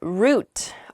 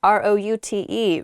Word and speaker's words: route: my pasture okay the next word is root r-o-u-t-e root it's how i say it you might also hear the word pronounced route root r-o-u-t-e means the